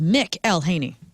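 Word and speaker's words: McElhenney: Well, I looked up the phonetics. I I did this because I I wanted to get it right and it says Mick Elhaney.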